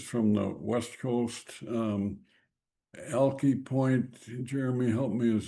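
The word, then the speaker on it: Alki: Um, Ali Point. Jeremy, help me. Is that the way you pronounce that? Uh, strangely enough, out there they pronounce it Alkai.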